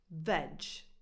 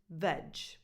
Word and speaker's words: veg: the first 3 letters, you need to keep the sound as well. So you're left with veg. So if you ever see these 3 letters, which is short for vegetables, you pronounce it veg.